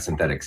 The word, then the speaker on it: Synthetix: recently rebranded to synthetics is that how I pronounce it Kane yeah that's right synthetics yeah which is a little bit easier to